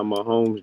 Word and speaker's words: Mahomes: Mahomes.